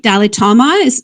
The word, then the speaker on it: Dalitomma: Just to get your name right, Dalitomma, am I pronouncing that right? You got it. It's like the Dalai Lama, but they call me the Dalitomma.